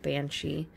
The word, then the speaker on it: banshee: You've heard of Banshee. That's actually spelled B-E-A-N-S-I-D-H-E. But we Americanized it to B-A-N-S-H-E-E.